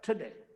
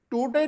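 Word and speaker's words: today: ट के साथ ओ, ठ, ठ, टुडे। यानी टूटे नहीं बोलेंगे, ट नहीं बोलेंगे, ट अंग्रेजी में शब्द ही नहीं कोई, because it's नॉट are language, it's foreign language.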